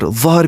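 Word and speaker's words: ظهر: Dhuhr means noon with dhamma sign on dha, but dhahr means back with fatha sign on dha.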